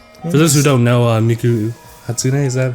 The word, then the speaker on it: Miku Hatsune: For those who don't know, Miku Hatsune, is that how you pronounce it?